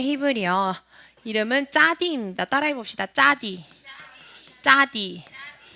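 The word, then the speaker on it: צדי: 짜디. 짜디. 네, 짜디는 이렇게 생겼는데요. 짜디의 발음은 쯔입니다. 쯔. 네, 그래서 우리가 흔히 아는 뭐 찌온 성경 한글 개역 개정이나 이런 데서는 시옷으로 표기가 많이 되어져 있어요.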